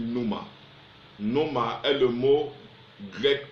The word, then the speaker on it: pneuma: Ça se prononce en principe pneuma.